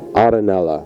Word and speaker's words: Arenella: It's an old Neapolitan Italian name, Arenella.